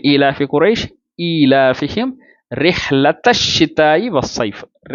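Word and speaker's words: رحلة الشتاء: லி ஈலாஃபி குரைஷ் ஈலாஃபிஹிம் ரிஹ்லத்த ஷிதாயி வஸ்ஸைஃப். ரிஹ்லத்த ஷிதா, யாருமே ரிஹ்லத்தல் ஷிதா அப்படின்னு ஓதுறது இல்லை. ரிஹ்லத்த ஷிதாயி வஸ்ஸைஃப் அப்படின்னு ஓதுறோம். சரிங்களா?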